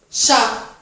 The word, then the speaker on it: chat: Chat. Aí você pode me perguntar, mas Luana, tem um T aí, por que não se pronuncia chat? Porque não se pronuncia o T, tá certo? No final da palavra.